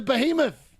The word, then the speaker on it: behemoth: Hey Google, how do you pronounce the word that's spelled B E H E M O T H? Beahhemoth. Behemoth. He's a behemoth.